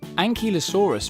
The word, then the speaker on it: Ankylosaurus: Ankylosaurus.